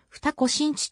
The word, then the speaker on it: 二子新地: されている駅名は二子新地と濁らず読むが地名の西は 2 ごとに凝って読むかつて江戸幕府が